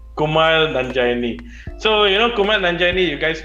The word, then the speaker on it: Kumail Nanjiani: It's Kumar Nanja. It's very hard to pronounce his name. Kumail Nanjiani. Kumail Nanjiani.